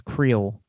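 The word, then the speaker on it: Kuiil: say his name uh I always pronounced it as creel because that's that's how he pronounces it uh in as he's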